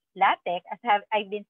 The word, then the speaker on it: LaTeX: okay so what is latex latex which is pronounced latic as have I've been saying it or latex okay it's a Document Preparation system for high